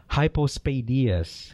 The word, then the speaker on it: hypospadias: last episode 397 about hypospadias we were corrected okay yes and I was saying it wrong I was saying hypos I I was saying it wrong too so hypospadias yeah he says here